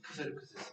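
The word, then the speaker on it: Xerxes: 거기서 보면은 영어식 발음은 세르세고 예. 저기 그 페르시아 말로 크세르크세스거든요. 예. 크세르크세스.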